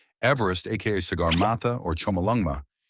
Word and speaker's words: Everest: it was named Mount Everest after Colonel Sir George Everest 1790 to 1866 formerly surveyor general of India 1830 to 1843 who pronounced his name Eve rest and who never actually